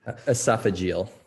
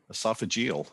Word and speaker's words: esophageal: ESO how do you say that word doctor esophageal esophageal okay he's a specialist in h gastrosoph agal